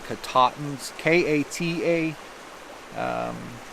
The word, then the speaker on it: Katahdin: mountain which is Mount Katahdin I think that's how they pronounce it here locally it's Mount katate pne's ka ta h